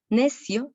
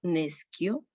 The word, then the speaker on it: nescio: No decimos en la segunda línea al principio necio, sino nescio.